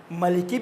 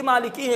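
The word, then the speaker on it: مالك: میں آئیں گے، قراءت میں ملکی بھی آیا ہے، مالکی بھی آیا ہے، فصیح مالکی ہے لیکن ملکی بھی ایک قراءت ہے۔ دیکھیں قراء 7 ہے،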